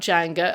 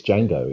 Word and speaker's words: Django: bit about janga um am I actually am I even saying it correctly I'm always worried that I'm not saying uh you know the pronunciation right is that right no it's Django yeah yeah we had a